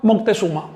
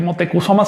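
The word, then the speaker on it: Motecuhzoma: Es lo mismo que decirle a Motecusoma. Moctezuma. Si en España hay un apellido Motesuma, pero no puedes explicar que Motekusoma se llamara así porque era descendiente de los mctesuma de España.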